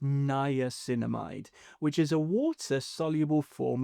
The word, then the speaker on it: niacinamide: Next is niacinamide, pronounced niacinamide, which is a water-soluble form of vitamin B3.